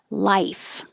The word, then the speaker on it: life: the vowel is ah life the vowel is eyes you need time for your tongue to rise life 23 as a verb